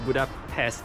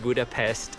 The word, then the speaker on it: Budapest: So, the correct pronunciation of Buddhapest is Buddhapest. So any S that you see in Hungarian is pronounced as sh.